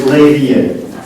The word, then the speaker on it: Leiria: session, which is Nelson Martins-Ferreira from Politécnico de Leiria. Thank you very much. By the way, it's Leiria. How to pronounce it?